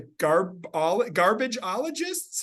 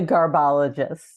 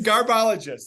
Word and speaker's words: Garbologists: And you're starting off with an amazingly named play, The Garbageologists? How do you say that? The Garbologists. The Garbologists. I wanted to put an extra GE in there.